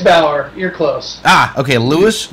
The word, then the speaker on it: Baur: His name is Lewis Lewis Bor. Is that is that did I pronounce that correctly? With Jack. It's Bower. You're close. Ah, okay. Lewis Lewis Lewis Bower.